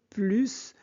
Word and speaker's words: plus: Ici, plus de sport veut dire davantage sport. Donc, on prononce le S. Anna, oui, mais je ne veux plus le faire le soir. Ici, plus est négatif, donc on ne prononce pas le S.